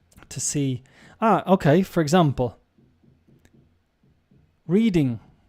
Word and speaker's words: Reading: Okay, for example, reading a book, reading, wrong. The pronunciation of this is Reading. Reading.